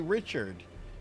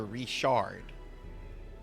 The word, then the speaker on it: Richard: You say, if you say Richard in reference to someone's like last name, you're gonna fucking piss them off because it's pronounced here Richard.